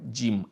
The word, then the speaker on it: জিম: শব্দ হয় এরপরে হলো জিম জিমের জন্য কি হয় আপনার জীভের মাঝখানটা যেয়ে মুখের ছাদে লেগে যায় এবং লেগে গিয়ে সেখান উচ্চারণটা হয় জিম আজ আজ আজ ইজ